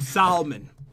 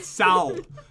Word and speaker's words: salmon: cooked salmon okay some salmon pronouncing it the cool way Sal no one ever says it like that you know I know